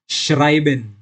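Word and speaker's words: schreiben: तो जब भी ई के बाद आय आएगा तो उसे हम आय की तरह प्रोनाउंस करेंगे। तो इधर मैंने एग्जाम्पल लिखा है श्राइबेन। श्राइबेन का मतलब होता है लिखना।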